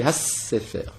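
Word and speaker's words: הַסֵּפֶר: Bon, donc on ne dit pas donc hasefer, on dit hassefer. Si on parle en hébreu pur, il faut donc insister sur la première syllabe. Sefer, hassefer.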